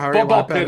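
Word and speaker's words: Ball x Pit: So we got Absilum, Bolex Ball, uh Ball Pit or Bard. Ball Pit is how I've heard it pronounced.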